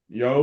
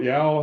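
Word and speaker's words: Yeoh: who of course Michelle yo or Michelle ya how do you say it C I think it's yo okay Michelle yo um yeah I think I think it's like yo I I don't know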